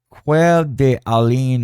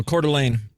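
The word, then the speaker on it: Coeur d'Alene: How do you pronounce that? Oh, Cordelane. Oh, that's how you spell Cordelane. Yeah, it's a it's French.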